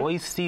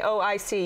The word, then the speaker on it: Oi-C Bowl: Oishi is the way it's pronounced, actually. Oishi being a play on words, it means delicious in Japanese. Mm-hmm. Oishi. But if you say O-I-C, you're okay.